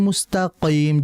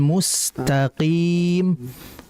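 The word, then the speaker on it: مُسْتَقِيم: Nah, jangan mustaqim, jangan. Melainkan ihdinas siratal mustaqim. Qim, relax saja, santai, tidak terlalu dalam.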